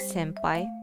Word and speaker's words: senpai: or sun is called yobiste and also the pronunciation is senpai but it's actually written as sim by